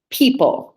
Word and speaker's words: people: That would be the E and the O together, saying E.